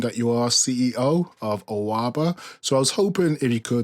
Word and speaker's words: Awabah: the battle of Awabah, but it's actually pronounced Awabah, which is Pidgin English for our money. So Awa is O-U-R, our money, Ba is money.